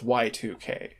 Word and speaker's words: Y2K: obvious elephant room y2k that is actually how you pronounce the game it's y2k oh yeah um but